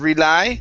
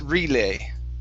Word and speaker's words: relay: uh next up is the word relay instead of rely it's relay relay there you go good